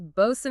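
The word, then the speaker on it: boatswain: Nobody is carefully enunciating when freezing sea water is hitting their face, which perfectly explains bosen and coxin.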